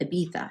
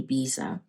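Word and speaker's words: Ibiza: to Aba with me aa is how they say it in Spain but me being Canadian I say Visa um he want wants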